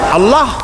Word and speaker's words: আল্লাহ: আল্লাহ এই উচ্চারণটা আমাদের অনেকের হয় না, কেউ বলে না আল্লাহ। আল্লাহ পাকের উচ্চারণটা হচ্ছে, আল্লাহ পাকের নামকরণ হচ্ছে আল্লাহ। মুখটা একটু গোল হয়ে যাবে, বলেন আল্লাহ আল্লাহ আল্লাহ।